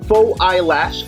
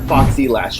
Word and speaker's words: Fauxilash: in our cosmetics lineup it can be both pronounced as faux eyelash or foxy lash whichever you like these amazing variants can